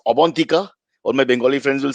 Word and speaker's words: Abantika: First and formally, it's Abantika. All my Bengali friends will scream at me. It is not Avantika, as we were told offline by our research team of 13 morons.